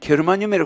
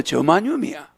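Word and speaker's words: 게르마늄: 근데 그거 옛날에는 겨르마늄이라 그랬다가 요새는 또 저마늄이야. 미국시 발음으로 바꿔 버렸어. 게르는 독일 발음이야. 개르하르트 뭐 응. 어 개르는 독일 발음인데 지인데지를 개르라 그러는데 미국은 저야 저지 저지할 때 저지 저만 이래 버려.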